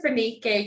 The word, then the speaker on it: Fanike: into this conversation and I really hope I pronounced your name correctly Dr phenique Young is that correct oh that is it